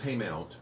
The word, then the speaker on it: Haymount: Is it Haymount or Haymont? Because I say it wrong, I think. Well, it's Haymount. Okay.